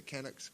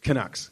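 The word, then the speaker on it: Canucks: So, yeah, the the how you pronounce it, the Kucks. Kucks.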